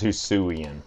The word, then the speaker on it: Hisuian: This is Hisuian. That's how you pronounce it.